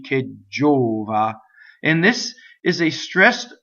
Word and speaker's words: gelida: We already know that the word K is a strong monosyllable, so you have a double G, ggɛlida.